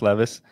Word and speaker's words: Levis: Will Levis now that we've learned how to say his name it's not Lis Levis is good for Tai